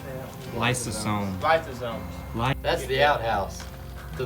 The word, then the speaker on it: lysosome: Lysosome.